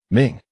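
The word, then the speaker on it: 明: When the sun and the moon come together, they shine, so this character is pronounced Ming, meaning bright.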